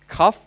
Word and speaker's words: cuff: คือ ครับ นะ ครับ แต่ ว่า เรา ต้อง ออก เสียง ตัว f หน่อย นะ ครับ ไม่ งั้น เขา จะ งง ถ้า C เ จะ ว่า แก้ว น้ำ เข จะ ยื่น แก้ว น้ำ ให้ อะไร อย่าง เงี้ย นะ ครับ cff